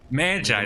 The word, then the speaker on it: Magi: Magi, that's how you pronounce it.